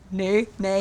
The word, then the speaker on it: Ne: They're Australian, so they would pronounce it either nee or nay. We don't want to fuck it up, but it's nay.